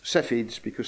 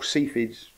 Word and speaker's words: Cepheids: So they became known as Cepheids, or Cepheids, pronounce it how you like, because somebody had already worked out that the star Delta Cephei was varying like that.